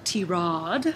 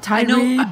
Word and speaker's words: Tirade: be part of the T-Rod. Yes, not tirade. Not tirade, right? Yeah, because that's the way we like to say it. T-Rod. But I guess it's just the way that the word is spelt.